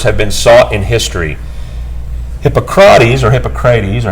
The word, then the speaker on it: Hippocrates: Hippocrates, or how do you say that? Is that correct? Hippocrates.